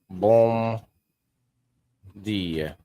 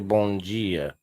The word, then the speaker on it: bom dia: Bom dia. Bom dia. It's actually bon dia. It's pronounced like bon dia instead of bom dia.